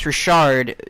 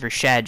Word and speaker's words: Rashad: He says, why do you pronounce Rashard Jones instead of Rashad Jones?